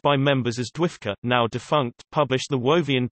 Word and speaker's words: Dwifca: when the Doctor Who Fan Club of America, pronounced by members as Dwifka, now defunct, published the Wovian Times as its newsletter.